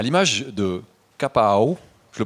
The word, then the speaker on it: KAPAW: À l'image de Capao, je le prononce bien, c'est comme ça ?